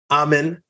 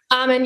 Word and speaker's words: Amann: Taylor Amann. I said it right? Amann, yep.